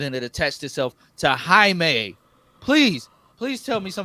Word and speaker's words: Jaime: many I mean yeah YouTubers calling this man Jamie yeah we're gonna see Jamie in a movie it irritates me so much I don't know